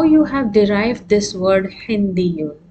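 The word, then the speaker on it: هندي: So you give a stress when you pronounce Hindiyun.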